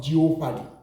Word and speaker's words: jeopardy: Then this word, J-E-O-P-A-R-D-Y. Pronounce it together. We call it jeopardy, not jeopardy. Most of us do call it jeopardy. It is not jeopardy. You rather call it jeopardy.